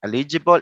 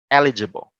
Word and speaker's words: eligible: eligible because a lot of folks would say eligible eligible eligible so those were like stress different stresses okay but it should have been eligible next sound if you do if you see